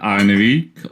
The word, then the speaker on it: ilNariek: That would be, I believe he pronounces his name ilNariek, but he'll correct me in a It's, moment. yeah. Oh well. It's a ilNariek or. It's backwards basically. It's my name backwards.